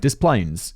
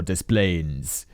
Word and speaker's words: Des Plaines: to say diplo or des plaines or something french but uh david specifically says this is the yankee pronunciation thank you david the